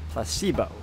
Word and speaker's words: placebo: after me placeo H the stress is on the middle syllable Placebo very good you're feigning